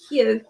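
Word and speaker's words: Hew: Would you like to start with excuse me if I pronounce this wrong, is it Hugh, H-E-W? Yeah, I've got Hugh here. Yeah, Hugh, there we are.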